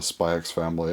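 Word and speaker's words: Spy × Family: today it was a spy x family and yeah i pronounced the x because um i i just pronounced the x because i mean it's there but also i feel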